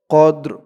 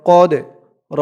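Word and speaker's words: قدر: ওয়ামা আদর কামা লাইলাতুল কফ দাল জবর কদ র জেরি কদর কদর এই যে এই শব্দটার উচ্চারণ যেমন হয়েছে এটারও একরকম কদর মা লাইলাতুল কদর ওয়ামা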